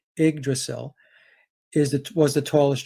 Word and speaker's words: Yggdrasil: uh it's pronounced the igdacel but it's spelt ygg d-r-a-s-i but pronounced ig the y is an i igdrasil is that was the